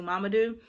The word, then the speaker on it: Mamadou: if you can see so this name is mamadou and so she broke down mama do and another reason why i love this book my husband my brother-in-law his name is actually mamadou and so when we